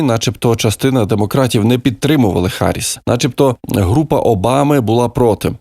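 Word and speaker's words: Harris: дітей і до речі Олег Шарп пише що фонетично вимовляється не Гаріс а харіс і тут ми йому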